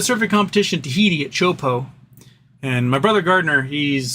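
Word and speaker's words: Teahupo'o: And Gardner started a company years ago called Chopo, spelled CHOPO, because that's what the wave is. The wave is spelled with a T, and so it does not look like it's how it actually sounds.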